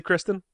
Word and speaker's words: Christown: It's spelled Christown, but it's pronounced Kristen. Right. What's the name of the new place? Actually, Kristen?